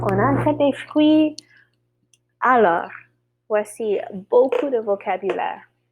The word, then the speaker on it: fruits: Notice that pronunciation there, the R. On achète des fruits.